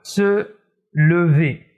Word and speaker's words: se lever: il ya un e8 à la fin d'une syllabe comme par exemple le verbe se lever se lever j'entends parfois dire seul iv seul